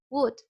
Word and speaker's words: would: Remember, the would we are going to pronounce would without O and L.